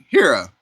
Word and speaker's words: Hera: The second clutch was laid by Hera. It's spelled like hero, but instead of an O at the end, it's an A. So Hera here is a hypo het trans het zero.